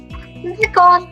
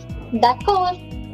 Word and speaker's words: d'accord: The last letter is silent, so it would be pronounced as. Let's try. We'll write it on chat. D'accord. Yes. D'accord.